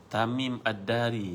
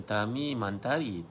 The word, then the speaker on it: Tamim ad-Dari: Tamim ad-Dari, bukan Tamim Mantari, Tamim ad-Dari, betul kan?